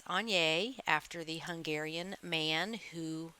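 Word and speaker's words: Aigner: also gave me this on that's how you pronounce it it is not agner it's on after the Hungarian man who invented the brand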